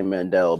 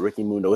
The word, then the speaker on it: Ricky Mundo: down to ricky mundo I want to say Mandel the ricky mundo is a proper way to say it it really comes down